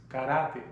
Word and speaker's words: karate: Karate, pronounced karate in Spanish.